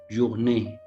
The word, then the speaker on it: journée: Look to the example in French, journée. We pronounce it as in B, journée, B, journée.